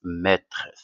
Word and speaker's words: maîtresse: simplement c'est une maîtresse maîtresse alors faites attention à la prononciation alors ici on a e mais se prononce et d'accord après on va